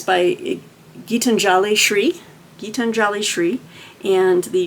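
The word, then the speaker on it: Geetanjali Shree: frame it's set in I didn't pronounce her name correctly gitan jalishri gitanjali gitanjali okay gitanjali Shri is the author's name 80 year old ma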